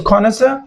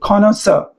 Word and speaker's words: connoisseur: So connoisseur R is silent. Connoisser Connor and the stress is on the second part or the second syllable of the word connoisseur, right?